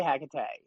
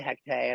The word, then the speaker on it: Hekate: Like, say it what's right for you. This is a name that comes down from other languages and probably not just Greece, right? I mean, she has all these roots in present day Turkey, I believe. However, you say her name, she hears you.